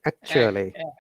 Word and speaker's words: actually: Then actually. Actually. Actually, yeah. Yes, teacher. Actually. Yeah, if you remember, in actually, the first A is A sound, but then A before LLY is a schwa sound.